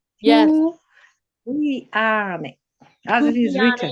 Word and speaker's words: Tuleane: Tuleane. You pronounce it as written. Yes. Tuleane. as it is written. Tuleane, Kiswahili, the yeah.